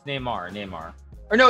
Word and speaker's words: Neymar: on ac milan uh pronunciation it's nema no it's neymar neymar or no it's